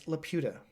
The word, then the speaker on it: Laputa: It's literally spelled like that. Laputa. La Pita. Whoa. But it's Laputa.